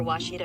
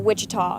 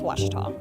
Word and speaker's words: Ouachita: Searching for Ouachita Baptist University. Back in Texas, everybody pronounces it Wichita, but really, it's Ouachita.